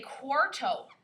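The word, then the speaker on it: cuarto: say for 15 you could say quarto not to be confused with cuatro okay cuatro is spelled c-u-a-t-r-o quarteaux the r and the t are switched okay so quattro remembers the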